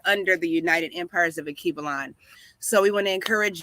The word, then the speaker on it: Alkebulan: Akibalan is spelled Alkebulan.